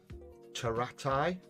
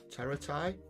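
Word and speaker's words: Pteraxii: it's some ad mech taratai teratai but it's spelled with a it's spelled p t e r double t uh double t double i something daft like that just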